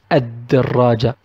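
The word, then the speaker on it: الدراجة: But if Da came and it's one of the solar Al alphabets, Al Shamsiya, we will pronounce the word Ad-Darraja, Ad-Darraja. We will not pronounce La, we will only pronounce A.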